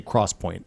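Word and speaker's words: XPoint: It's spelled X point, but you say cross point. They made that really clear.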